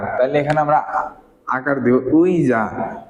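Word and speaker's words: 의자: আতে কি আকার তাইলে এখানে আমরা আকার দিব উইজা উইজা অর্থ কি চেয়ার তারপর দেখেন আর দুই একটা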